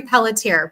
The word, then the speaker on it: Pelletier: Pelletier.